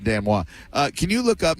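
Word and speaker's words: denouement: Uh please that that is spelled denowment but is pronounced Dano.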